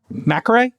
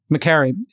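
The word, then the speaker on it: Makary: We dropped an incredible interview with FDA Commissioner Marty Mcare. Am I pronouncing correctly? Carrie. McCary. Great job there.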